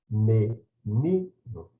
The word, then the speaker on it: menino: A gente diz menino, menino. Então, o O soa como o U e ele é pronunciado mais fracamente.